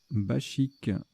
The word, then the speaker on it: bachique: Bachique. Ou baquique. Ah, je sais plus. Eh ben, c'est pas précisé, donc ça doit se prononcer bachique.